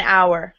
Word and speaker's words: hour: For an hour, because H is silent in hour.